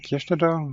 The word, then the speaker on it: Kirstätter: My name is Kestada or which is easier to pronounce for English as well as French speaking um developers.